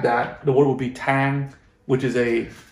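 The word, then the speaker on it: tháng: at is that again you have to say this in a higher tone otherwise the word has a different meaning so like i said tang means month now i'm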